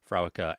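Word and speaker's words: Fréwaka: Yeah, I had to look up how to pronounce both Frewaka and Yeah, I was just going to Antaisha.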